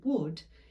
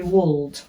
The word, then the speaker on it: would: the medial vowels and we take out the silent letters because we don't say wooled so the l is silent and it becomes this